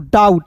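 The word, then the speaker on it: doubt: डाउट यहां पे बी जो है साइलेंट कीजिएगा।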